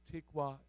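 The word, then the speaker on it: תִּקְוַת: Can I tell you today that the Hebrew word for line in this passage is pronounced tikwat?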